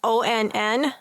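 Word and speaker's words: onn: do you pronounce that the Walmart brand that o NN it's pronounced on on it's o on okay they have 45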